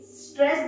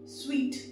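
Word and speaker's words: suite: यू आई टी ईई स्वीट इसे सूट नहीं पढ़ेंगे आप क्या पढ़ेंगे आप स्वीट the exact of this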